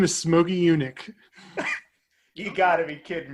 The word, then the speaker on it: Yunick: His name is Smokey Yunick. You got to be kidding me, right? No, Brilliant. It's not spelled like you would spell eunuch. It's Yunic.